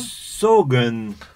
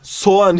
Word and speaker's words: soğan: Sarımsak yanlış yazılışı ve okunuş oluyor. Onion'a baktığımızda onion nedir biliyor musun Tavuç'um? Sogun. Sogun diye bir şey oğlum, apartıyorsun. Apartıyorsun diyorum ben de. Soğan ya, beni de dilimi mahvettin Tavuç.